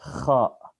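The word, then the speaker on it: خاء: And this is kha. I see some people they do the K and H. Kha, kha.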